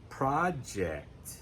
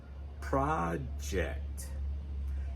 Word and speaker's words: project: Now, project is another word that has two pronunciations, depending on whether we're using it as a noun, project, where the stress is on the first syllable, project. If it's a verb, project.